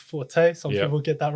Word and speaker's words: Forte: Well, you can go onto my YouTube page, which is called Forte. F R T E, and it's not pronounced for, it's Forte.